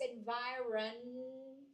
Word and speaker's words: environment: I think for everyone people usually like to drop the N here so it pays to learn how to pronounce the word everyone it's environment same thing for